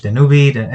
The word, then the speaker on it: Danube: I was in a trip to Budapest, and I was near the lake Danube. I don't know how you say it in English. Danube.